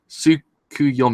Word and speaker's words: Tsukuyomi: higher up it's pronounced soup Sukey Sukey yum-yummy tsukuyomi yes I think I pronounce on completely different tsukuyomi I take cancer